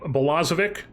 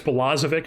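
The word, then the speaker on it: Balazovic: Oh, and I also forgot to mention that we claimed Jordan Bolazik, I think it's Bolazic, is how you say his name.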